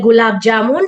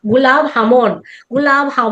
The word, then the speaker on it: gulab jamun: Y también cuando fuimos a un restaurante hindú, el gulab jamun siempre es un postre bastante conocido ahí y siempre nos hacía reír porque ellos lo pronuncian como gulab jamón.